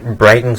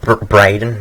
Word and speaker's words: Braden: So when you search up Braden's mods, that's how you say my name, by the way. It's Braden, not Braden or some shit.